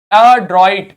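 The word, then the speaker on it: adroit: इसको क्या पढ़ेंगे, अड्रॉइट। क्या पढ़ेंगे, अड्रॉइट। क्या पढ़ेंगे, इट, ठीक है, अड्रॉइट, अड्रॉइट। आ को अलग कर लो, ड्रॉइट को एक साथ पढ़ लो, अड्रॉइट, ठीक।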